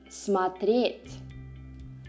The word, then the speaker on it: смотреть: verbe à une autre, comme dans le verbe "смотрЕть". Vous dites "я смотрЮ", mais "ты смОтришь", "он смОтрит", et jusqu'au reste de la conjugaison l'accent est mis sur la première syllabe.